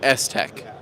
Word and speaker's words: STEK: How do you say it? It actually comes from Shield technology. So you can become STEK. Yeah. So you say STEK.